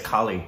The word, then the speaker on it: Kale: I mean, it's, because obviously, Mahesh Kale, or Kale, how do we say his name? We've been saying it wrong. I know, we say Mahesh Kale. Yeah, we say Mahesh Kale, but it's not. I think it's Kali.